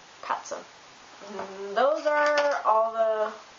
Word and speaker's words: Katze: And TZ is pronounced like Z in German. For example, Arzt, Katze.